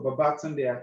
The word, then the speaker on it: Babatunde: my name yes my correct name is Dr babatunde you know I know you pronounce acquire wrongly and of course um a